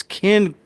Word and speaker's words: Ken: No, it's I've been saying his first name wrong. It's Ken Kurzinger. I was saying Kurt for some reason.